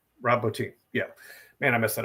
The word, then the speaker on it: Rob Bottin: was that, and I don't know how to pronounce his last name, even though you've already said it twice. Rob Bottin. Rob Bottin.